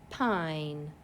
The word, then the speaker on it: pine: My next word, P-I-N, pine. Long vowel, silent E. Please write pine. P-I-N, with an E that is not pronounced at the end.